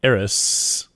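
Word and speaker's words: Eris: so with with Chiron and arys that's how you say it at three degrees apart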